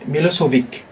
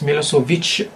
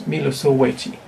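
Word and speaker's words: Milošević: In English, some people may read or pronounce it as Milosevic, but in his Yugoslavian or Serbian language, it's Milosevic. So in Chinese also you need to keep this h. So Milosevic, not Milosevic. It's Milosevic.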